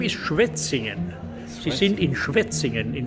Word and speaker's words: Schwetzingen: Now, can you pronounce the name of this place? This is not the The name is Schwetzingen.